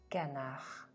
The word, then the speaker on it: canard: thé chaud canard No D sound at all at the end of the word.